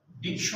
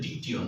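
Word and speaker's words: dictyon: ডিকটিয়ন, ডিকটিয়ন, ডিকশন হবে না, উচ্চারণটা আসলে ডিকটিয়ন। হ্যাঁ, ল্যাটিন শব্দ এটা।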